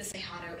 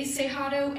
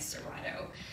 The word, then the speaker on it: Cerrado: snapshot of what exactly the cejado is that is how in portuguese you pronounce the double r for the record um if you say seihado anywhere people will be very confused though so it's okay if you keep calling it serato i will also talk